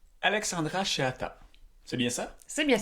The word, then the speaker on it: Chehata: Salut, je suis Julien Cheatta Foubert et je vous souhaite la bienvenue au balado. Ça arrive juste un voyage. Alexandra Cheatta, c'est bien ça. C'est bien ça. Est-ce que je le prononce bien ?